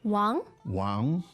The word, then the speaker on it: 王: It's second tone. Second tone. Could we hear it again? Wang, Wang.